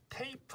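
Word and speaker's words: tape: 그래서 예를 들어서 뭐가 있냐면 테이프 같은 경우가 있죠. 테이프. 테이프는 제일 뒤에 있는 E가 얘가 소리가 안 나요.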